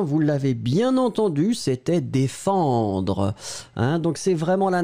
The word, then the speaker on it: défendre: Ma prononciation, dé, e, fan, vraiment une nasale, tout dans le nez, pas de N, défendre, dr. Et le E, pour moi, je ne finis pas sur le E, défendre, dr.